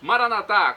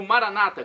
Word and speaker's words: Maranata: aramaico dialeto de Jesus maranat como dizemos nós católicos ou Maranata como dizem nossos irmãos separados os evangélicos ou protestantes não importa a pronúncia o significado é mesmo vinde Senhor Jesus um